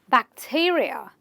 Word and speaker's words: bacteria: Words ending with the IA, again, you will stress on the syllable right before this suffix, and you will say bacteria. Bacteria, not bacteria, bacteria.